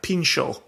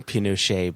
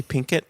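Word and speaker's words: Pinchot: a prohibitionist governor gifford how would you pronounce that in america i pronounced that pinshaw but i don't know how you pronounce that in america well initially i was thinking pinochet but that that's a very different uh a bit of history there uh i think yeah probably pinkett yeah p-i-n-c-h-o-t in american english parlance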